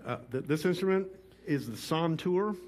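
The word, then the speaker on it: santur: to our viewers uh this instrument is the son tour it's spelled s-a-n-t-u-r okay it is the forerunner to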